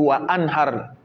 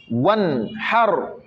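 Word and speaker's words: وانحر: Le A, on ne le prononce pas. Pareil ici. Wan har. On ne va pas dire wa an har. Non. Wan har. Wan. Voilà, pas one, mais wan.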